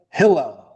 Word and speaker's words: Hillel: I call it hill. Accent on the first syllable.